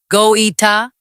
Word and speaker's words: Goïta: That is when the first explosions were reported near Kati, the military base where President Assimi Goïta, pronounced Go-ee-ta, was headquartered.